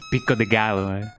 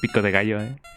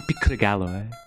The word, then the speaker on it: pico: And she says pic instead of pico. I want I want some pico. That's not how you say it, man.